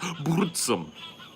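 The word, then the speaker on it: Burzum: m but it's pronounced bsum do you have to roll the r any sweds in here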